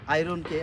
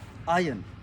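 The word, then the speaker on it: iron: যদিও আমাদের বাংলাদেশে আয়রনকে আমরা আয়রন উচ্চারণ করে থাকি, এটা সঠিক উচ্চারণ হবে আয়ন।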